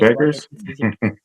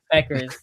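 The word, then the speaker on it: Bueckers: I'm gonna just say Paige Beckers. Beckers. Yeah, I don't know. The BUE always messes me up. The U is silent.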